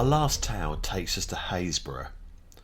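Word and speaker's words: Happisburgh: Our last tale takes us to Haysborough, spelt Happysburgh, We've no idea why it's pronounced that way, it's just the way it is.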